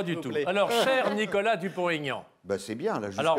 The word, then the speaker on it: Dupont-Aignan: Parce que je n'ai pas dit Aignan, j'ai dit Dupont-Aignan.